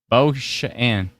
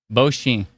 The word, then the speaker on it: Beauchamp: Was I right? B-E-A-U? Yo? Just Bow, right? Can you phonetically spell it out? Is it B-O-W-S-H-E-N? Is that what it is? Somebody help me in the comments here. Beauchamp. Circumflex. That's right. Beauchamp. Accent circumflex. Beauchamp. That's what I said.